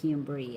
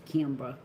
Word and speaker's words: Kimbra: I say it wrong, don't I? I say Kimberly and it's Kimbra.